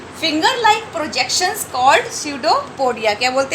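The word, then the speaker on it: pseudopodia: ठीक है, इसमें पी साइलेंट है इसलिए हम इसको प्रोनाउंस करेंगे स्यूडोपोडिया।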